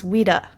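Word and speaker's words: Ouida: at the time and her pen name was Weda. Um, so it's spelled O U sorry, O U I D A.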